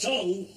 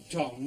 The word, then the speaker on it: tongue: See how this do it for a length of tongue. Look, it's not tongue, it's pronounced tongue.